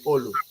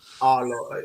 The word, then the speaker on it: Olu: Olo. Yeah, Yeah. but the right pronunciation is Olu. I'm a Yoruba man.